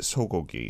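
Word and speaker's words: 쇠고기: Swegogi is how it's spelled, but we do pronounce it sogogi.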